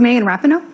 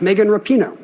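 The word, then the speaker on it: Megan Rapinoe: took him to read it precisely who is megan rappano correct megan rapino player for a thousand ken corrected the pronunciation so she got the answer anyway i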